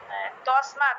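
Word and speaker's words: তস্মাৎ: এ কি এই যে তসমাত এটা কি তর পরে কি বিসর্গ হবে নাকি দন্তস উচ্চারণ হবে না এখানে দন্তস টাকে ভাঙ্গার প্রয়োজন নাই তসমাত তসমাত উচ্চারণ করবেন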